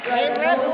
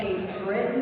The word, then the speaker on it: Cape Breton: Cape Breton way.